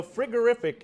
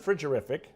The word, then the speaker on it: frigorific: turns out that um my pronunciation is not always good so frigorific is the right word not frigorific and so we're adding one